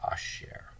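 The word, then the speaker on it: אשר: but it's the word asher. Asher. So that's how you spell it. This is how you say it. There's a compound shava under the aleph, shin, segol resh.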